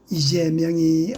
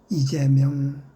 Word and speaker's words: 이재명: 슬제자는 길게 재라고 발음해야 되는 제자입니다.